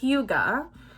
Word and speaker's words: hygge: hayden rowe i'm so excited this was a huga that's how you say it i looked it